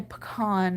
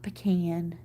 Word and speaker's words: pecan: pronounce things differently like down here we say pecan not pecan you know we we